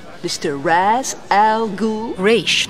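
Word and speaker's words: Ra's: Raish, not Raz. A common mistake.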